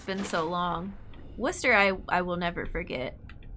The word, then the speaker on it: Worcester: Worcester, I will never forget. Leicester, Leominster, all the ones that have fewer syllables than you would think.